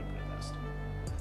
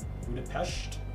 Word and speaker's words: Budapest: It's pronounced with shush, not S. Sincerely, a local citizen. It's pronounced with Czechia? Czechia? No. It's pronounced sh, not S. Austria? Budapest?